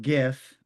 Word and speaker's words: GIF: Um so Stephanie, it's pronounced GIF.